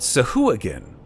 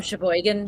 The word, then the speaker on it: Sahuagin: And people kept mispronouncing them. Oh yeah. Sahuagin, I think I called them Sheboygan.